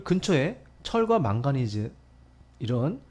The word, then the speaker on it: 망가니즈: 그 근처에 철과 망가니즈 이런 망간 옛날 발음은 망간이지만 망간이라고 하는데 요새는 망가니즈라고 하죠.